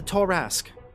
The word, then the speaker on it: tarasque: the tour ask inside please pronounce tarask correctly torres it's like uh well in fact it is acceptable both ways the original archaeologist that found the bones of a tarasque once called it the torask i take scans and